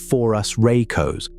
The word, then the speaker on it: phorusrhacos: The animal is called phorusrhacos, pronounced for-us-ray-cos, and it's the poster child for a family scientists have named the phorusrhacidae.